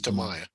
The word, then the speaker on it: Tamiya: nice to everybody so and try not to pronounce it sorry yeah he knows it's tamaya uh i started tamaya tuesday basically with just